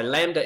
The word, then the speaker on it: lambda: triangly sort of um greek letter for l so lambda is how we pronounce it that's how we refer